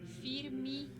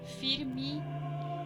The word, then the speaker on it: firme: Pero si no tiene ningún acento y se encuentra al final de una palabra, adquiere el sonido de una I. Por ejemplo, desde, sete, sempre, firme, forte, sobre.